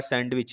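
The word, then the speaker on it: sandwich: इसी प्रकार सैंडविच में W साइलेंट है, बताना क्या साइलेंट है।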